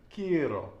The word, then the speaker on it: quiero: And whenever you have a vowel at the end of the word, the one single stress is going to be On the penultimate the syllable. penultimate syllable. Okay, like quiero, mando, tengo.